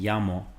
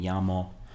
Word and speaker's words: llamo: Notice how the double L is pronounced. It's pronounced like a Y sound, so